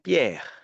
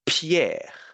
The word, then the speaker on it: Pierre: The point is the letter P in French is not pronounced so much like the English one, which could be pronounced like a p, p, a very strong puff of sound coming through the lips, right? So p. We don't say Pierre in French. We just say Pierre.